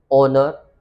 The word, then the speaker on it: honor: Same ओनर। What is the spelling of ओनर? HONOR। यस, ओनर, honest. So we have to remember one thing that कभी भी एच किसी भी word की starting में आता हो तो उसको most of the time pronounce नहीं किया जाता है।